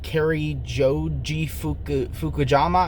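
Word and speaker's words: Cary Joji Fukunaga: direction was great uh carrie joji fukujama i believe is how you say his name uh he did a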